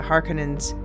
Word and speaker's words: Harkonnen: the two great houses, the Harkonnens, and yes, I'm using the more Finnish pronunciation now, thank you, Marilyn, and the Atreides.